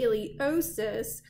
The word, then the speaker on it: iliopsoas: So the iliosus does have a silent P in it, I-L-I-O-P-S-O-A-S. From the iliosus, you next can find your femoral nerve.